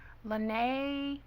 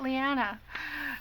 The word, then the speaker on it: Liana: But I want to say Lene or anyway. Liana Scraps. That's it, Liana.